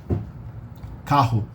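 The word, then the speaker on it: carro: the English a h kahoe so when the word dispelled in the middle of the word but it's germinated spelled with two two r's together it's um also spelled pronounced like in the throat so you say Kaho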